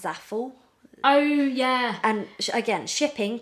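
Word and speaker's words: Zaful: Got that from, it's pronounced Zaffle.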